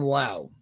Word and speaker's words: Lowe: I think if we get, and I think it's Nathaniel Lowe and then Brandon Lau. Those are even though the last names are spelled the same.